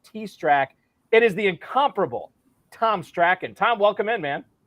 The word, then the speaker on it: Tom Strachan: at NFL underscore t-strack it is the incomparable Tom's track and Tom welcome in man thanks for having me and I truly appreciate you pronouncing my name right that's one which a